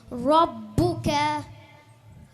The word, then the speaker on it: ربك: ராக்கு மேலே ஃபத்தஹா வந்துக்குது, ஹெவியாக ப்ரொனவுன்ஸ் பண்ணணும். ரப்புக.